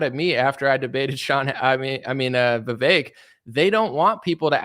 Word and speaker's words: Vivek: Vivek, it rhymes with cake and snake and, all these other things.